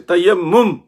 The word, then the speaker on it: تیمم: تیمم سے، تیمم سے، تیمم یہ صحیح تلفظ ہے۔ وہ لطیفہ یاد رکھنا